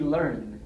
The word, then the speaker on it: Iearn: you saw the name it was supposed to be learn but the learn is spelled with the capital I so yeah misleading much